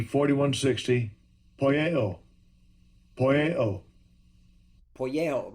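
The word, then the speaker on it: ποιέω: It's poieo. How does Esau pronounce it? Strong's G 4160. Poieo.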